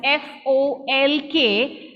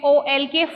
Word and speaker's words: folk: word is, will read FOLK, folk, right? Folk. But we know that LK gives you the sound k.